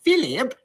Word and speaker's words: Philip: I delight in the fact that Queen Elizabeth's pronunciation of Philip has 3 syllables. Philip!